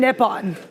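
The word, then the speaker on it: Nippon: you say it Nyon is it Nyon or nipon I think it's it spelled like nipon I don't trust ram ram so anything ram ram tells me I seek I said nipon I'm pretty sure it's nipon oh oh she says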